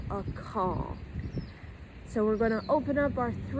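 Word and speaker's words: Akal: And it's spelled A-K-A-L, a call.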